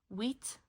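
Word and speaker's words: huit: Wheat. The H is silent. Wheat.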